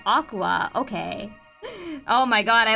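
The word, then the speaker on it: Aqours: Oh, of course it's pronounced Aqua.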